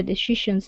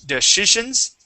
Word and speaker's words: decisions: So instead of deitions okay it's decisionions.